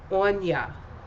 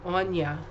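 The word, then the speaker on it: Aine: And then, of course, the last one is Ein. I don't know how it's pronounced. I will tell you, though. It is pronounced Anya. A-I-N-E, Anya.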